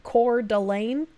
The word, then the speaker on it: Coeur d'Alene: It's pronounced Kootenai and Coeur d'Alene. Coeur d'Alene just doesn't sound nice, though. I like saying Coeur, like Coeurl, like the cats in Final Fantasy.